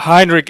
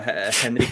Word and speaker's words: Henrik: Heinrich Ibsen. I heard Henry Miller. Never mind. Go ahead. Yeah, no. Henrik Ibsen.